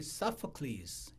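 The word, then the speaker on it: Sophocles: BC 450 경에 어 우리 아들이 서클스 이렇게 발음하는게 맞다 그러대 소포클레스는 사람이 있습니다 들어보셨습니까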